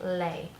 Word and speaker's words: les: Two things together is kind of a combination of the sounds of le and la, and they make lay.